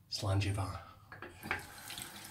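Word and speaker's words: Slàinte mhath: Slangivar. Now we spell it. S-L-A-I-N-T-E. That's the slange. A. Var. Proper Gaelic. Gaelic. M-H-A-T-H. Var. M-H-A-T-H. Var. Didn't say the Scots were educated, but that's how they spell it.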